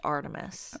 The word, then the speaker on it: ARTMS: talk about Artemus okay because Artemis that we now know is pronounced Artemis right um I'm pretty